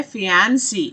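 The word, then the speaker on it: fiancé: अगर महिला की बात हो रही है तो उसकी प्रोनाउंसिएशन है फियांसी, और अगर लड़के की बात हो रही है तो उसे कहते हैं फियांसे, ओके। और इसमें बस ई का ही जो है वो फर्क रह जाता है, द मैन एंड the woman.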